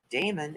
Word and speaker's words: daemon: service processes by convention the word demon uses its archaic spelling here within a te in place of the e in the modern spelling however the pronunciation is the same daemon is incorrect even though